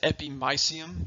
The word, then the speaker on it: epimysium: the spelling right here some people pronounce it epimysium that that's okay too that they're both are commonly accepted and the anatomical world if you will i was always taught epignesium so once again the